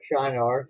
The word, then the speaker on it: Shinar: The land of Shinar, or Shinar, some people pronounce it, was where Babylon would later become a great empire.